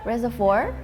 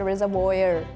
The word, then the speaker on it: reservoir: Reservoir. Reservoir. Is it reservoir? Reservoir. Reservoir. So, reservoir. Reservoir. Reservoir. This is like a French-based word. So you cut Frenchbased okay like in India we would have said reservoyer I very emphasized on